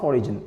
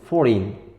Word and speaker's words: foreign: a simple word character Forin no not Forin foreign yeah uh simple mistakes alien